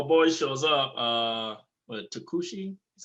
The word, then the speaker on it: Tokuchi: sad so my boy shows up uh but takushi is how you pronounce it takushikushi and that like according